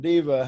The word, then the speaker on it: deva: know i pronounced it deva and diva how do you pronounce it i pronounce it deva because that's more like the sanskrit oh okay yeah i've